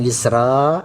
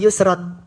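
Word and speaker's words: يُسْرًا: Heh, ada yang yusro, ada yang yusron. Sementara ini yang betul yusron. Kenapa belum belajar waqaf? Kasih keterangan. Karena belum belajar wakaf bacanya yusron.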